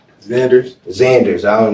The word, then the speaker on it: Zanders: Brandon how do you say your last name Zanders Zanders I don't like Mexican people's names how